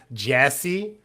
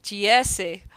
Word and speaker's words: Geyse: Like, It's spelled Geyse, which is why we're so confused, because everyone who's just listening is like, yeah, we all know how to say the name Jesse, and I know.